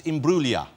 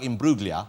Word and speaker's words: Imbruglia: been saying it correctly it's Imbruglia yeah but there's a g in there so it looks like Imbruglia yeah so it's in blue and it's an Italian name originally Italian name I think the name's